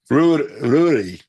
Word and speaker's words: Rury: Rury. Oh, thank you. Pronounced like brewery without a B.